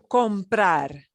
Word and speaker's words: comprar: to kind of notice when we say each of these infinitives as the infinitive we punch the ending syllable a little bit more that's the way these verbs work okay they end in a consonant that does not enter us so we're going to punch that last syllable that's what happens ah to buy comprar